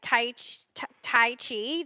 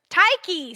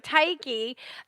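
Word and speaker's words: Tyche: call her the trick taiki see I'm saying it wrong you say like a k not like a CH it's spelled CH so it throws you off thank you thank you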